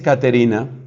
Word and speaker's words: Caterina: tal Catalina esa, que en toscano entiendo que no se dice Catalina, se dice Caterina.